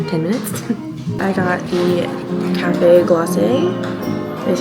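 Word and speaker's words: Café Glacé: I got the Cafe Glacé, is how the cast member pronounced it.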